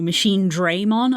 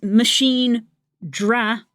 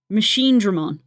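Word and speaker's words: Machinedramon: Why are you saying it like that? There's no Y. Or E. If you're trying to say it like this, Nastria. If you're trying to say this, Dre. There's no E. Y, yeah. It's Machine Dramon.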